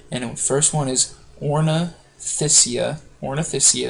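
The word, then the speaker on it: Ornithischia: Ornoysia is how you say that.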